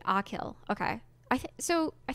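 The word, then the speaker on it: Achill: bridge the mainland oh they tell me how to say it Akil okay I think so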